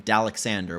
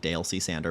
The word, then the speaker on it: Dalexander: name, and in fact, my username, Dalexander, which is how it's supposed to be pronounced. I did not realize it looks like Dale C. Sander, but I understand if you made that mistake.